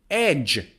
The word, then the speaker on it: edge: or another example is edge edge not edge edge one of my all-time favorite